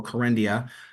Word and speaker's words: Kerendia: Kerendia, yeah.